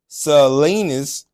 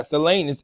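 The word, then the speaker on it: Salinas: the kicker Carol has since been relocated to sanus if I'm pronouncing that correctly excuse me if I'm not sanus s a l i n a s Valley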